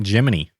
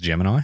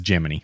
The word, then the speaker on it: Gemini: foso is done now we're on to project gmany space learner license are you looking at me because you think it's Gemini mhm yeah the official NASA pronunciation is gemin